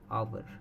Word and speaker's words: hour: इसे आर्स नहीं बोलते हैं, हमने इसको क्या प्रोनाउंसिएशन करना है, आवर, 2 hour।